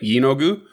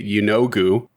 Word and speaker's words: Yeenoghu: All right, and we're going we're it's uh it's an emphasis on the first syllable, is that right? Yeenoghu?